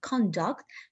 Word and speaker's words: conduct: syllable of the word conduct it's a noun form and if we put the stress mark for the second syllable it's the verb form of this word for example conduct conduct